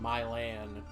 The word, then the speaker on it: Milan: about the fact that Milan Ohio is pronounced in my land that makes me kind